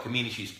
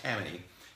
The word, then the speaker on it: Kamini: in India, because Kamini, I used to call it Kamini, it's pronounced Kamini.